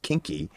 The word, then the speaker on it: Kinki: Kinki pronounced kinky, right?